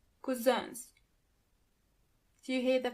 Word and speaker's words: Cousins: Onkel und Tanten, 9 Cousins. Do you hear the pronunciation of the last word? Cousin in plural, you have to add a French pronunciation to it.